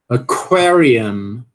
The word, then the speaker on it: aquarium: Letra Q também, né? Mesma coisa, ó. Sílaba tônica, um canzinho aqui iniciando a sílaba, então você tem que aspirar. Aquarium. Aquarium. Aquarium.